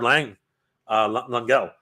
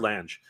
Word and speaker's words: Lange: My last name is pronounced Lang, like the word bang.